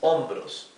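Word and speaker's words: hombros: with ho o because the H is totally mute right so if it begins with H the sound begins with the the pronunciation begins with o right so this is ombros that's why we also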